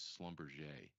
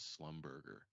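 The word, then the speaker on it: Schlumberger: a quote on SLB which is Slumber and I I mispronounced it as slumberger and I've and in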